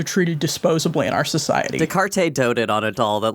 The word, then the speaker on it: Descartes: How do you pronounce it? Descartes.